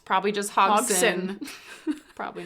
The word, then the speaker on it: Hodgson: the D is silent. It's probably just Hogson.